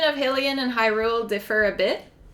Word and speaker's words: Hylian: So we would pronounce it Hylien. Hylien. But then Hyrule is Hyrule, so you have to pronounce it Hyrule. So I think that comes from there. So now it's like ingrained in my mind. So I actually don't, to me the pronunciation Hylian sounds off.